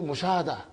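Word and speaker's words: مشاهدة: You say in Urdu mushahada. So because you did not pronounce tun, so it is mushahadatun.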